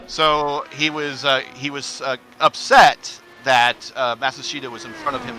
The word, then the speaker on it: Matsushita: Matsushita.